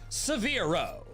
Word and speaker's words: Severro: I'd call it Severro. I needed something that could rhyme with Spiro and Firo. And Severe worked quite nicely.